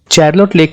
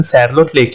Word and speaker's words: Charlotte Lake: चैरलोट लेक का सही pronunciation सैरलोट लेक है, जो हमें उस समय तक नहीं पता था।